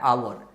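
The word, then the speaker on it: hour: अब जैसे आवर है तो कुछ लोग हावर पढ़ते हैं, इसका करेक्ट प्रोनाउंसिएशन होता है आवर, तो आप आवर पढ़ते हो, आ।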